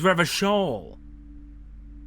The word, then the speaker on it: Revachol: Oh, I've been pronouncing it all wrong. Is Revachol.